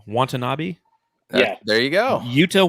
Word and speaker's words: Watanabe: Watanabe?